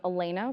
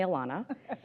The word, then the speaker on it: Elena: Hi everyone, Elena rhymes with. Call me Elena, but do not call me Alana.